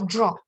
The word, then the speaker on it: draw: Ajá, este verbo se pronuncia draw, con una O Drawing. secita y larga.